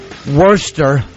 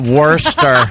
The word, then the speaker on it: Worcester: uh Greg ganir Bangladesh Worster as in like worst no no I think that was Worcester Mass oh Worster M they called it Worster Worster um a very a